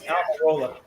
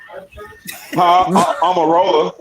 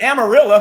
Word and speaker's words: Almirola: His name is Almirola. Almirola. Oh, yeah. Sorry, dude. Yeah. I think Amarillo.